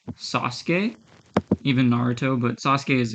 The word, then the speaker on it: Sasuke: always that simple because in Japanese the a u inside a word is often silent so let me give you an example there's um the Naruto character right Sasuke even Naruto but Sasuke